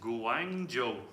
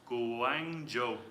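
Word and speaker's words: Guangzhou: goes my Mandarin sessions already someone Matias says gang Joo gang Joo is how it's pronounced gu Wang Joo Matias Guang Joo says Matias that's very helpful thanks um thank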